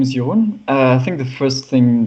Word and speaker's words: Jeroen: how you pronounce it yone if you're familiar with French your own is a way to go and if you only